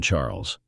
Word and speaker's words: Charles: fixing my Gaze on Charles you're so thoughtful my dear husband she replied Charles pronounced the French way as charl struck me as your